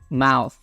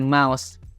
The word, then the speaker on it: mouth: mulut ya untuk pengucapannya kita bilangnya mouth mth Jadid ya digigit gitu ya guys dan kita nyebutnya bukan mouse mouse karena Mouse itu artinya tikus say the magic